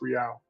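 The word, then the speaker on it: réal: Just so you know, yeah, it's pronounced Real. Real, okay. Yeah, that makes Yeah. sense. Yeah, in Disco Elysium, the money is called Real, and it's same pronunciation basically, I think.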